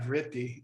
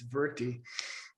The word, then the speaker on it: vritti: And anyway, so it's not vritti, it's verti.